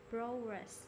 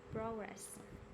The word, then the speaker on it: progress: right yes okay so there are two ways to pronounce this word progress or progress okay okay the thing